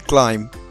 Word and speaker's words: climb: Sure, Janvi, like the letter B in climb and lamb.